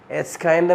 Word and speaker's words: kind of: تعال ننطق بقى السنتنس كلها كده مع الريدكشن بتاع kind of. هتبقى it's kinda messy.